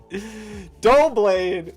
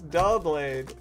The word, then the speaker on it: Doublade: Dial blade. It's Doublade.